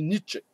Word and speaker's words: Nietzsche: Pour ma part, je dis Nietzsche. Voilà. Et avec tous les professeurs germanophiles et germanophones qui fréquentent ma librairie, eh bien, je m'en voudrais de ne pas prononcer le mot comme eux le font.